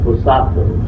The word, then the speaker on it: Hosato: a japanese middle name it's uh pronounced hosato spelled h-o-s-a-t-o and i guess my